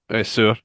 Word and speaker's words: Saor: Because Yeah, it's a Gaelic word, Saor. Sir.